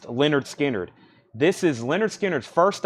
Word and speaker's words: Lynyrd Skynyrd: Lynyrd Skynyrd, pronounced Lynyrd Skynyrd.